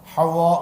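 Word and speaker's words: حواء: বলেন তো আবার বলেন আমি সুন্দর করে বলি আপনারা উচ্চারণটা ঠিক করে নেন হাওয়া হায় হুত্তি হায় এরপরে ওয়াও ওয়াও এর উপরে তাসদিদ এরপরে একটা আলিফ এরপরে হামজা হাওয়া হাওয়া বলেন হাওয়া হাওয়া না হাওয়া মানে বাতাস ভাবেছেন তা না হাওয়া উই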